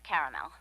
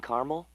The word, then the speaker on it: caramel: okay perrywinkle loaden or caramel the caramel please the what I'd like itting caramel oh the caramel yeah that's what I said Tina actually you said caramel when it's pronounced caramel can't we just call